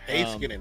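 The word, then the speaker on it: Heiskanen: Oh, Hayskinen.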